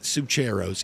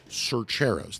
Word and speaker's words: Cercheros: My Northeast Georgia drawl every now and then wants to say Cercheros. It is not Cercheros. It is Cercheros. That's how you say it, Cercheros.